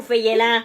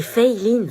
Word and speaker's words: Feyelin: Elle est où, Feyelin? C'est Feiline. Feyelin. Feyelin? C'est Feiline. Bah, c'est écrit Feyelin. Oui, mais ça se prononce Fei, c'est américain en fait. Et Line parce que c'est asiatique.